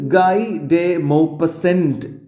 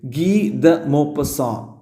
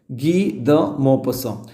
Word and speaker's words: Guy de Maupassant: എഴുതിയിട്ടുള്ള ഓതറിന്റെ പേര് ഇത് ഗൈഡേ മോപസെന്റ് എന്ന് വായിക്കാൻ തോന്നും പക്ഷേ ഇയാൾ ഒരു ഫ്രഞ്ചുകാരൻ ആയതുകൊണ്ട് ഇയാളുടെ യഥാർത്ഥ ഉച്ചാരണം വരുന്നത് ഗീദ മോപ്പസ അങ്ങനെയാണ് വായിക്കുക ഗീദ മോപ്പസ YouTubeൽ ഒന്ന് പിന്നെ ഈഒരു